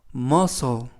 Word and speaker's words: muscle: 여러분 첫 번째 표현으로 머소 머소이라고 발음하시면 되겠구요 품사는 명사 뜻은 근육이라는